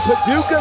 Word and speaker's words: Paducah: Sid Ellington from Paducah, Kentucky.